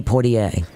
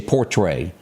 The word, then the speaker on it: Poitier: such an iconic actor Sidney Poitier I always say portray and it's always wrong or in there to